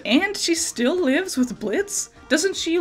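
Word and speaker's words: Blitzø: This isn't Blitz. The O is silent.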